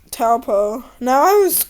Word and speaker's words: Taupo: Let's do like Taupo. Now I always say it wrong. Topo.